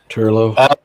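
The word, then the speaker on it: Turlough: Turlo.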